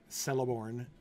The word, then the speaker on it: Celeborn: was a kid and how the word celeborn should be pronounced because you know looks very similar and celebrate yeah there you go